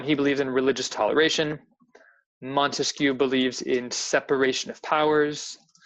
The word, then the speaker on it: Montesquieu: Montesquieu believes in separation of powers. Those 3 branches. Remember, 3 syllables in Montesquieu, 3 branches.